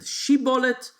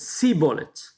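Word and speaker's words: שיבולת: And they two tribes pronounce it in a different way. One of them said shibolet, and the other one said sibolet.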